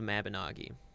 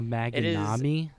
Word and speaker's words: Mabinogi: It's an MMO called Mabinogi. How do you spell that? Nope, it's already there. Thank you. All right. A Maganami?